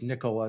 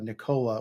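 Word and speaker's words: Nikola: um production tells me it's Nicola not Nica which sometimes I've um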